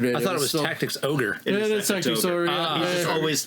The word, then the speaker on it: Tactics Ogre: where I pre-ordered it I thought it was Tactics Ogre just always pronounced the tactics org gotcha um you're going to want to open